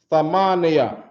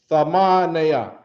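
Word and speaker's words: ثمانية: They have Thamaniya. Right? Thamaniya. All right? Let's count the syllables. Tha, ma, ne, ya. 4 syllables.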